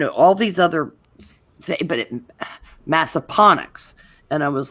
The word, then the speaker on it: Massaponax: of years and did not know how to pronounce this place because even though it's Appomattox, this place is Massaponax instead of Massapanax, which I know.